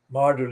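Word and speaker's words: Myrdle: street and perfect street model is spelled m-y-r-d-l-e very similar to the spelling of the english word model the name martin the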